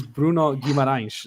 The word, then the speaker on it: Bruno Guimarães: And he pronounces his own name in the interview, and it is Bruno Guimarães.